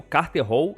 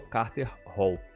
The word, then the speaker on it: Katar Hol: E esse aqui é o Carter Hall, tá? A pronúncia é a mesma, mas a escrita é diferente.